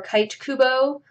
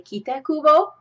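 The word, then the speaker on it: Tite Kubo: asked, they would say also this guy or Kite Kubo. But because I know a little bit of Japanese, I say Kita Kubo.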